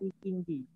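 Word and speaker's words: ikinci: Yang penting dibacanya ikinji.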